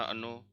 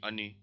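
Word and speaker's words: она: या, ती, ओन, अना, अनो, मुई, वी, अनी। देखो सब में स्ट्रेस कहाँ पे है, इसमें अना, आ पे है, सो अना हो जाएगा। स्ट्रेस ओ पे है, अनो हो जाएगा।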